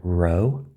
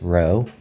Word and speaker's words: rho: for resistivity is called row so the way you pronounce this letter is rho and it can be